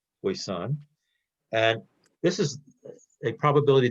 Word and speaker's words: poisson: poisson distribution it's spell it's a french word p-o-i-s-s-o-n hopefully i pronounce it correctly voice-on and this is a